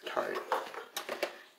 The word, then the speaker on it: Tarte: Yeah, it's Tarte.